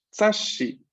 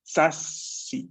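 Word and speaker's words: 雑誌: Hay que tener en cuenta de que la sílaba shi claramente se escribe SHI. Por ende, cuando yo escribo el pequeño tsu delante de shi, no es que en Romaji vemos dos S. Entonces podríamos caer en el error de pensar que la pronunciación es sasi, sas, con una S.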